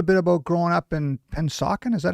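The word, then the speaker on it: Pennsauken: Tell me a little bit about growing up in Pensauken.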